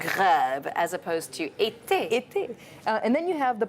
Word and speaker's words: été: When it comes to the accent aigu, it's pronounced é, like été, summer.